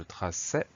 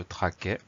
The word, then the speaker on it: traçais: On a deux exemples, on a je traçais et nous la sâmes. Si on oublie la cédille, la prononciation change, ça donne je traquais et nous la câmes.